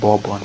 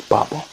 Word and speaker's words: Babon: a quick side note babon initially i was pronouncing it bob one because of how it spelled the english version